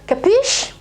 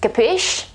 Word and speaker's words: capisce: quite quite funny and the final e is not pronounced capisce this is the pronunciation